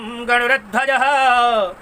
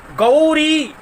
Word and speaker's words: गौरी: आचार्य लोग बोलते हैं गौरी गौरी गौरी बोलते गौरी बोलते हैं तो ग में जो औ की मात्रा है उसका भी उच्चारण आपको करना है और गौरी गौरी नहीं होता है गौरी बनता है तो कहते है क्या